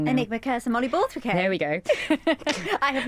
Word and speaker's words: Enigmacursor mollyborthwickae: So there's a couple of really famous formations, the one that I'm going to say its name wrong now. Enigmacursor mollyborthwickae.